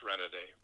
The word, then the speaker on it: Renaday: It's pronounced pretty much the way I spell the professional name, Renaday. Ah. Originally, it would have been Renaday, but nobody says that. Even in Louisiana, they don't pronounce it with that heavier French accent.